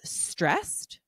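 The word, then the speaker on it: Strest: Francis Herb Farm, and it's called Stressed, which is spelt S-T-R-E-S-T.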